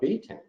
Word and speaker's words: betaine: out their stomachs so beets is where betaine was first discovered um and hence the pronunciation of betaine beets are also a